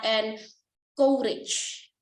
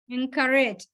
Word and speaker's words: encourage: I heard somebody said and courage. So the correct pronunciation to this? Encourage. And courage. So using a.